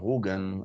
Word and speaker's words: Rügen: Okay, it is Rugia because it is actually an archaic Slavic name for today's German island of Rügen at the Baltic Sea, and but back in